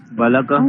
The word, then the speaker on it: बालकः: करोति एकवारं वदति वा कः वदति का वदति बालकः सर्वे सर्वे न वदन्तु सुप्रिया भगिनी वदतु गच्छति बालक गच्छति बालक पठति बालको इति उच्चारणं बालकः गच्छति बालकः गच्छति बालकः पठति बालकः